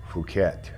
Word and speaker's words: Phuket: my eek headed for phuket not pronounced as it appears so uh about 138